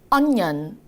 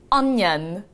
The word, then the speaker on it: onion: 나가서 고급지게 읽을 건데 이거 진짜 원어민들은 발음을 어떻게 하냐면 on에다가 년. 왜 그러냐면 이잖아요. 니언을 빠르게 발음을 해서 onion. 한 번 더요. onion.